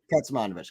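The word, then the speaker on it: Kecmanović: name all right I'm about to K monovich KET manovich got it cool wow everyone is here Lexi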